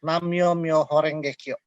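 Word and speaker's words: Nam-myoho-renge-kyo: Sutra yang paling paling utama dia sampai dia bacanya itu nammyohorengekyo Natal dalam bahasa Mandarin itu eh namanya Mei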